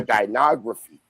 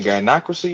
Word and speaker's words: gynocracy: We came from a dynography, not a patriarchy. You mean the gynocracy, you mean?